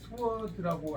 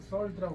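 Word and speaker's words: sword: 이거는 이제 스워드라고 안 읽고 썰드라고 읽는다고 또 반대로 썰드.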